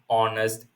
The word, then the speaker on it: honest: Here h is silent. Okay. So we do we won't pronounce H rather it is our honest heir.